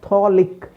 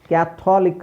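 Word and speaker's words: Catholic: silent ಆಗಿದೆ ಇಲ್ಲಿ ಕ್ಯಾಟ್ ಕ್ಯಾಥೋಲಿಕ್ ಕ್ಯಾಥೋಲಿಕ್ ಅಲ್ಲ ಕ್ಯಾಥಲಿಕ್ ಕ್ಯಾಥಲಿಕ್ ಕ್ಯಾಥಲಿಕ್ ಕ್ಯಾಥಲಿಕ್ okay so ಕ್ಯಾಥಲಿಕ್ ಸೋ ಅಲ್ಲಿ ಓ ಸೈಲೆಂಟ್ ಮಾಡಿ ಯಾಕ ಮೈಕ್ ಆನ್ ಮಾಡ್ಕೊತೀರೋ ಗೊತ್ತಿಲ್ಲ ಕ್ಯಾಥಲಿಕ್ ಕ್ಯಾಥಲಿಕ್ ಸೋ ಓ is silent next favourite favourite ನಿಮ್ಮ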